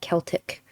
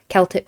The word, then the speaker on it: Celtic: sort of uh celtic celtic celtic basically whenever i pronounce a word two ways it's because i know that there are people who say it one like both pronunciations are used both are accepted some people get really